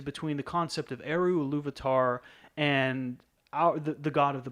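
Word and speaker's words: Ilúvatar: seeing the similarities between the concept of Eru, Iluvatar, and the God of the Bible?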